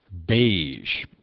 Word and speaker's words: beige: Beige. ZH is recognized in phonetics as spelling the zh sound, the rarest sound of English.